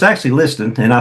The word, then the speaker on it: Liston: My name is Jackie Liston. It's spelled Listen. Looks like listen, pronounced Liston.